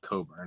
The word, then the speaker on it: Cockburn: I mean, his name's Cockburn. It's pronounced Coburn.